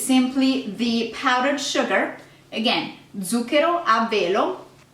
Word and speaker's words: zucchero: of sugar, which is zucchero. Now, pay attention to the Z. We really pronounce the Z harsh, so it's not zucchero, it's zucchero. Zucchero, really big emphasis on the Z.